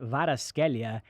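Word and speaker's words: Kvaratskhelia: european football right now it's pronounced vada scalia and they're calling him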